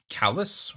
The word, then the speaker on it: Chalice: trouble, becomes Kamen Rider Chalice, or as they pronounce it, Callus, which I guess that's how they pronounce it, but, in doing